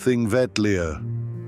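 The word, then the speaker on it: Þingvellir: The road leads us first to Thingvella, pronounced Thing Vetlia.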